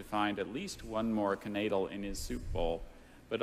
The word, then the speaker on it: knaidel: Max hoped to find at least one more knaidel in his soup bowl, but all he discovered was his missing lower denture.